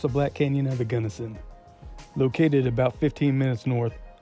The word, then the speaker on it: Gunnison: myself before anybody else does say it is pronounced Gunnison not Gunderson and as far as wheelchair accessibility Goes Black